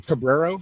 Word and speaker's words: Cabrero: Um Cabrero. So, C A B R E R O. Sweet. Cabrero.